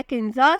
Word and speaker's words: KENZA: नाम है किंजा, स्पेलिंग है KENZA।